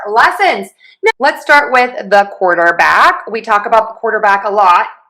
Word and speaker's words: quarterback: But to say quarterback, we are going to stress quore, the beginning syllable. So we have that k w combination and then the or quo. Quarq.